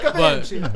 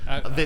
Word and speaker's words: Vinci: Yeah, probably in Italy. That's probably how you say it. I think so. Mike Vinci. But here in America, it's Vinci, apparently. Vinci, I'm just saying what okay.